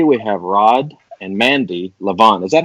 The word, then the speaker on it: Lovan: It's actually Lovan. Lovan. Like the emotion.